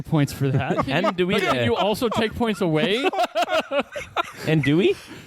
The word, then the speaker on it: andouille: Andouille. Andouille. Andouille. Andouille. I will give you points for that. Can you Andouille.